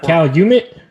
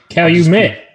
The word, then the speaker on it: Calumet: about high end horses it's not cal humid i noticed cali may if i'm saying it wrong so be it cal you met there you go but that if you